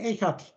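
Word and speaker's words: אחד: Das Echad, Schma Israel, Yahweh Echad, da steht hier, das wird Echad ausgesprochen.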